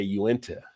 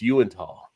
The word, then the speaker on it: Uinta: doing craft beer, like everybody kept mispronouncing. They would say Uinta. And it's like, no, it's Uintah.